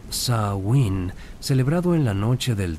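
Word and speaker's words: Samhain: El más importante de todos era Samin, pronunciado como Sain, celebrado en la noche del 31 y 1 de octubre al primero de noviembre.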